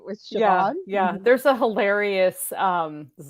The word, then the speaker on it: Siobhan: Yeah, Siobhan, Siobhan, that's always a tricky one. People get Sioban or whatever, right, with Siobhan.